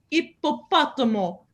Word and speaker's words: ippopotamo: Oh, sì, ippopotamo. Ippopotamo. Ippopotamo. You really have to get that double P.